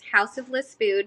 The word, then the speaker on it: Haus of Le Spood: going to be Instagram, which is House of Le Spood. So it's spelled HausofLespood.